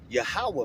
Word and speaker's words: Yahweh: For those who don't know, the Heavenly Father name is Yahweh, man, all right? And that's how you pronounce it in the Paleo Hebrew, all right?